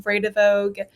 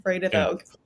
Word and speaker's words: Vredevoogd: A great way to remember how to pronounce it is Vray, Vray, which is not how it's spelled, but Vray, duh, and then Vogue, like the magazine, Yeah. Vredevoogd.